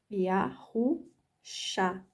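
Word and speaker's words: יהושע: Yahushá, porque aqui é o Shin, tem som de SH, e aqui é o Ayan, tem som de A. Então, ficou Yahushá.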